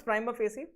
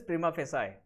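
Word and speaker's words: prima facie: is not defamatory okay what is prime of ac correct pronunciation is prim of si so it is at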